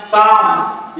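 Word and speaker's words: psalm: के बाद एम आया हुआ है इसलिए एल साइलेंट हो जाएगा। 10वां number P एस एल ए एम साम, यहाँ भी इसी प्रकार है कि ये थोड़ा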